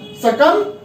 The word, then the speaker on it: succumb: फिर से climb, SUCCUMB, सकम। It's not succumb, it's succumb.